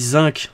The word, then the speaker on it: zinc: lysine qu'il est là ça dit zinc en français moi je dis zink jeu-là prononça landaise il ya beaucoup de mots que je prononce à l'anglais un petit peu comme